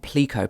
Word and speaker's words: Pleco: use to help you learn Chinese it's called pleo p e and this is the official pronunciation according to the developers of the app